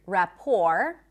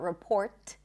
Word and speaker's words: rapport: Also the word rapport. Rapport. You can also put a schwa at the beginning. Rapport. It's not report. Rapport.